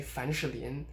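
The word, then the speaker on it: 凡士林: of thing for example fan sherlien fanshirlian i'm pronouncing vowel here they're sure this means vaseline and you can actually kind of say fanchalian you know just making the vowel in sure really short and i'm i'm not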